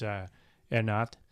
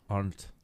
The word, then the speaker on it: Arndt: I'm going to try and pronounce it. It's German. It's Ernat, Arndt. She's won it twice too. Arndt.